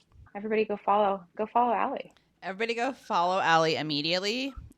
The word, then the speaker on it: Alley: they can follow you I am Ally in Raleigh Al l l e y in Raleigh and it was just a nice life coincidence that my name rhymes with my city it has served me